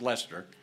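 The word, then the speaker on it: Leicester: B and Lawrence were in leester which is spelled Lester pronounced Lester kind of like Worster and wers Shire um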